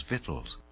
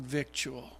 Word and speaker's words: vittles: on the beverly hillbillies grew up pronouncing that word victoria i grew up listening to the preachers and friends i know pronounced it victoria but i had this